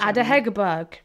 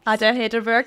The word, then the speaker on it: Ada Hegerberg: Ada Hegerberg.